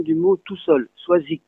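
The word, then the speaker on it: Soazig: Mais rappelez-vous, prononciation du mot tout seul, Soazic, il se prononce K.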